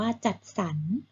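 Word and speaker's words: จัดสรร: คำ แรก อ่าน ว่า จัด สรร นะ คะ จ. อดร จัด 2 อนุสัน แต่ เห็น ไหม คะ สอเสือ บวก รอหัน จะ ออก เสียง ว่า สัน ต่อ ไป ค่ะ หรรษา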